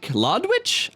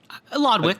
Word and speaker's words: Lodwick: We did get Daryl Lodwich? I'm having a hard time pronouncing that one. Lodwick.